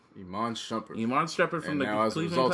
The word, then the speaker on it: Iman Shumpert: Iman Shumpert.